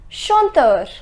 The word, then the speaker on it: chanteur: Chanteur. The pronunciation is chanteur.